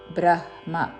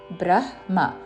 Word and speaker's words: బ్రహ్మ: ബ്രഹ്മ യോനിർ కి మహദ്ద్ బ్రహ్మ హ తర్వాత ద కి బ వ ఒత్తు ర వత్తు మహద్ అని ముందు పలికి బ్రహ్మ బ్రహ్మ ముందు హ పలికి తర్వాత మ బ్రహ్మ బ్రహ్మ అనకూడదు బ్రహ్మ మమయోనిర్మహత్ బ్రహ్మ తస్మిన్ గర్భందామ్యహం